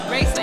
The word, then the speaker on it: Raysa: Raysa, correct? Raysa, All yes.